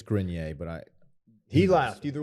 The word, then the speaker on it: Grenier: would have said i i always say green yay and i'm not saying that's the way to do it that's just how it comes out of my mouth i believe it's grenier but i he laughed